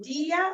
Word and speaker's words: die: so is it dia or D? D. Just D, not dia. There is a word dear, D-I-R. Oh, okay. Ja. Das gehört mir, das gehört dir.